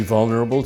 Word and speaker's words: vulnerable: How many syllables does vulnerable have? Good question. Vulnerable. 4. But this second syllable is just a schwa, and sometimes it practically disappears.